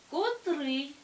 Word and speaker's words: котрий: варіант нам не підходить варіант б Котрий наголос падає на другий склад і це буде правильний варіант але ж Давайте розглянемо